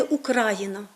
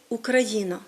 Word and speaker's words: Україна: говорити з позиції сьогодення ми маємо єдиний наголос у слові Україна і похідних від нього Україна український українець по-українськи ми не Україна ми Україна ми не окраїна ми є країна ми не українці ми